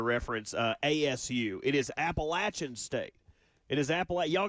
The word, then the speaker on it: Appalachian: It is Appalachin.